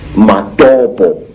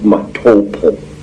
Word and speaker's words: Matobo: place called the mountains of the round rocks matobo wrongly pronounced mattopa in in zimbabwe these hills are really not